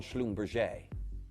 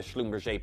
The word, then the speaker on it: Schlumberger: And that is the genius of Jean Schlumberger. Not Schlumberger, as a lot of people often pronounce it, but Jean Schlumberger.